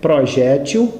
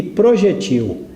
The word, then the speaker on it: projétil: esse nome especial Equino há palavras que nós podemos pronunciar de uma maneira ou de outra quanto a sílaba forte o exemplo é projétil e projetil os bons dicionários registram projetil palavra oxítona a sílaba forte na última sílaba projetil é o que